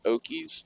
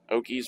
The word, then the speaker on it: Okis: saying it right but it's spelled ok i s i'm guessing it's okies okies mod it's essentially